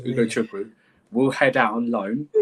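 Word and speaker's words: Ugochukwu: the new signing, Leslie, and say it with me, guys, Ugo Chukwu. It's very easy to pronounce. Ugo Chukwu. So you don't have to say Leslie anymore. It's Ugo Chukwu.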